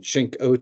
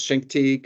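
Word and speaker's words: Chincoteague: call it Appalachian and shink O it's it's two syllables shink te not shink o um I Used to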